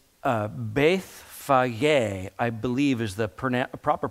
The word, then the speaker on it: Bethphage: Now, I already, it's Bethphage, I believe, is the proper pronunciation of this location.